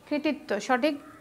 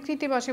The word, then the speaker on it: কৃত্তিবাস: এখন এখানে কৃতিবাসে ভুল কোথায়, এখানে শব্দটা তো কৃতিবাস না, শব্দটি হচ্ছে কৃত্তিবাস, সেই জন্য আমরা বলি না। সেই জন্য কী করতে হবে, সঠিক উচ্চারণ যদি তুমি করতে পারো শব্দটা সঠিকভাবে তুমি লিখতে পারবে, কৃত্তিবাস।